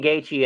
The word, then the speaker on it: Gaethje: Justin Gaethje and Ilya Taporia is the proper pronunciation of those fighters' names.